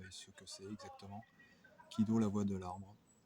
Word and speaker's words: Kido: Kido, la voix de l'arbre. Alors, ki, c'est l'arbre. En japonais, ça peut se prononcer ki.